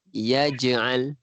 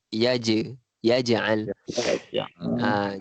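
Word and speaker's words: يجعل: Kita sebutnya yaj'al. Jim tu dipanggil qala surah. Duduk di tengah-tengah perkataan. Jadi kita ada lantunan sedikit. Kita bacanya yaj'al. Ada lantunan. Ada je sikit. Yaj'al macam tu.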